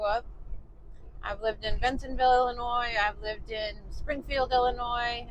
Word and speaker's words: Illinois: back over into Illinois don't call it Illinois with an s on the end even though there's an s on the end it's a silent s don't do that Illinois so yeah I've lived